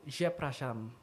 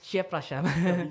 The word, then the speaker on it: przepraszam: Permisi itu kalau di Polandia tuh przepraszam. Zepraszam. Iya, przepraszam. Agak susah. Iya. Pronunciation-nya agak susah. Apalagi kalau baca itu tambah lebih susah lagi. Iya, iya. Przepraszam gitu.